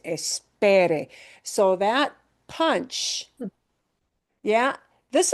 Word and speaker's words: esperé: pronunciation really matters and putting the stress in the right place truly, truly matters because espere has the same sounds, but a different stress syllable.